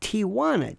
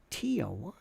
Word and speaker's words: Tijuana: Alpine the Tijuana bronze it's Tijuana t-i-j there's no t-i-a where did that come from Tijuana we're going to Tijuana realtor jewelry adding syllables well I don't know jewelry Tijuana Tia one what are you doing